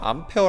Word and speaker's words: 암페어: 철계단이 뭐예요 암페어 였죠 a 라고 쓰고 우리 암페어 라고 있습니다 이라고 쓰고 너네 a 라고 1 더라 잘못된 거에요 암페어 라고 읽어야 됩니다 그럼 아이의 다닌 뭐예요